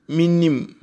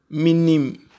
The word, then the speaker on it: minim: is n n Nim how do you say I know in tree minim minim meim he or she knows